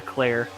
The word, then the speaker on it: Clare: If it was like the F1 driver, he said it is Leclerc. So I had to make a mental note of that. So it is Tyler Clare.